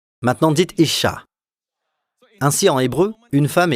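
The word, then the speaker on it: אשה: On l'appellera Isha, c'est-à-dire femme, parce qu'elle a été tirée de l'homme. L'homme est appelé Ish. Maintenant dites Isha.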